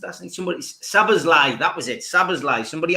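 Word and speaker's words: Szoboszlai: Lime, Sablozli, was it what got pronounced last night? Sabazlai, that was it, Sabazlai.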